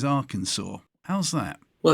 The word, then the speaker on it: Arkansas: Arkansas how's that well it's actually an Indian name it means Downstream people and and the Indians uh say AR it's not spelled that way but if you spell it phonetically the way they spoke it it's Arkansas GE thank you I've always